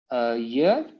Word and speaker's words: je: Je, it's pronounced je.